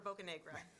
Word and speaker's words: Bocanegra: Oh, Assemblymember Bocanegra.